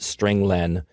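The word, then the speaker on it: strlen: appears at line nine i pronounce it string len because it means string length it returns the number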